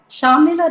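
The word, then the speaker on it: Shamela: are from english literature shamila rhymes with pamela so it was a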